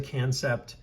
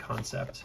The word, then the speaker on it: Kansept: I've never had, it's actually pronounced, I think, Kansept.